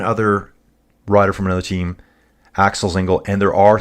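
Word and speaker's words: Axel Zingle: It is Axel Zingel.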